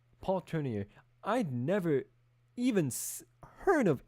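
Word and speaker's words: Tournier: At that stage, apart from the writings of the of the Christian Swiss psychiatrist Paul Turner, that's how you say it. Yeah. Turner. Paul Turner.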